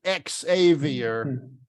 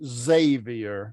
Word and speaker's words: Xavier: Some people don't know how to pronounce it, so they pronounce it Xavier, but it's really pronounced Xavier.